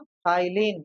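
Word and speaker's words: ptyalin: क्या बोलते हैं कालीन पी टी वाई एल आई एन ई लिन नहीं बोलते हैं इसे बोलते हैं भैया हम इथाइन यहां प पी क्या है साइलेंट ठीक ठीक ठीक चलिए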